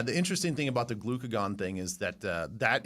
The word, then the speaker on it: glucagon: Uh, glue glucagon.